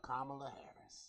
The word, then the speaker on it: Kamala Harris: But while we're talking about political stuff, I want to talk about Kamala Harris.